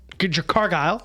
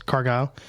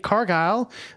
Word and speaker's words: Cargill: me pull it up Argyle sorry I think it's cargile if you're from this area of the country there's a meat packing plant called Cargill and that's how it's spelled uh but I believe